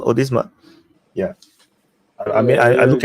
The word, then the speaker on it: Odisha: right come again odma is it is it pronounced odisa yeah I mean I look at accent your